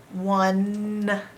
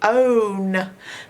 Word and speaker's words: one: Now, if this was spelt phonetically correct, this E would be magic, making this O say O, and it would be own, but it's not. It's one.